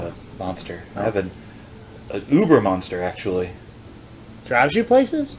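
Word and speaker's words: Über: Uber or Uber, as you pronounce it in the original German.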